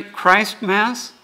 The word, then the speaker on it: Christmas: is actually Christ Mass when did the Tea get dropped out if people would pronounce it correctly marry Christ Mass no thank you I'm